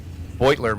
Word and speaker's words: Beutler: Mispronounced Jack's name wrong all day yesterday, but Jack Beutler over here, right side, in that 92 Sierra.